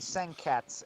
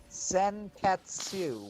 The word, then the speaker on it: Senketsu: It's actually Senketsu and the U is silent. And I said I watched the whole thing in sub. They are saying Senketsu. Very clearly saying Senketsu with 3 syllables.